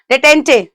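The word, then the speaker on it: détente: का सिनोनिम क्या होगा डिटेंटे वैसे अगर हम देखे तो इसको डिटेंट सब लोग बोलते हैं ऑलमोस्ट इंडियन जो प्रोनंसिएशन है और वैसे इसका correct pronunciation is डिटेंट ई is silent turned भी बोलते हैं कुछ लोग तो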